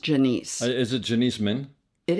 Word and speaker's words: Janice: And I actually think her name is pronounced Janice.